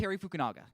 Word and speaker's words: Fukunaga: Yeah, and I believe Cary how do you pronounce it? Cary Fukunaga. Fukunaga, yeah.